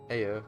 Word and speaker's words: Ea: When the vibration of vocal folds was still required to convey our thoughts and intention, Aya, I believe, was the pronunciation used when referring to our people.